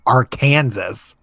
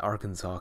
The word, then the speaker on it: Arkansas: let's stay Arkansas Arkansas yeah that's how you pronounce I know it has Kansas in theirs but it's not Arkansas its Arkansas that's that means you are multiple that makes